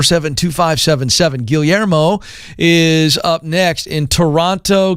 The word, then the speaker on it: Guillermo: want to learn uh in spanish is guillermo in english people just say guillermo and it's like that's good enough okay so my english